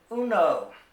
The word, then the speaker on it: uno: to count to five the first number is uno and that means one you can say it